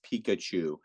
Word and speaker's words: Pikachu: nerd like me you're like Pikachu right it's Pikachu he's an electrical Pokemon right what color is